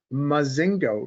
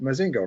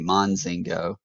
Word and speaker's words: Mazingo: Danny Stewart, Don Vandenborg, and Hunter Mazingo. Mazingo, right? Right. I'm Spot on. pronouncing that right? You are. A lot of people like to throw an N in there before the Z, Monzingo, but Mazingo's right.